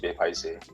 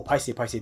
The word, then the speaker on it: paiseh: There are a lot of people that don't actually pronounce the word paiseh the way we pronounce it because we are Chinese, right? Like I realize that my Malay friends or my Indian friends usually will say it like an English word.